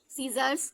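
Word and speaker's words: scissors: MUS, एस के बाद सी आया तो यहाँ पे सी साइलेंट है। MUS, muscles, ELESS, muscles. ठीक है। सीजर्स, ये क्या है?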